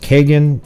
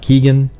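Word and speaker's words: Kegan: You notice how it's pronounced Kagan and it's not Keegan?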